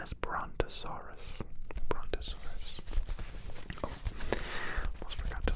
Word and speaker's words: Brontosaurus: Brontosaurus.